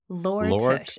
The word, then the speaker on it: Lore Tush: Lore Tush, L-O-R Tush.